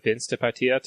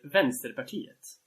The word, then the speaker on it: Vänsterpartiet: now, and I guess that's the pivot that Vänsterpartiet is going for. But yeah, that's wonderful pronunciation. Thank you. Wait, who is the left party? I'm not going to try to say it. Vänsterpartiet.